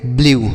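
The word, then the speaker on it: blew: ई डब्ल्यू इसे पढ़ेंगे ब्लू समझ में आया तो अगर ई के बाद डब्ल्यू रहेगा तो इसका उच्चारण यू के रूप में होगा किसका ई डब्ल्यू का उच्चारण यू हो जाएगा ठीक है तो इसे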